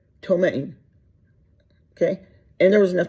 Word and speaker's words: ptomaine: And the poison it had in it it's spelled, and I think I can pronounce it, Ptomaine, and I think that you don't say that P. I think you call it ptomaine.